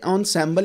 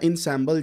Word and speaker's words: ensemble: क्या हैं सबसे पहली बात यह है कि नसल या इनसल जब भी आप इसको पढ़ते हैं तो कुछ गोरे इसको नसल मेथड्स कहते हैं नसल मेथड्स बोलते हैं सो इट डंट